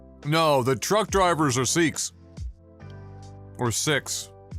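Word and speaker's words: Sikh: Did we Did we pronounce it sick here? Because in English sick sick sounds like sick. Is that how we got here? Because my whole life even the people that themselves were said seek.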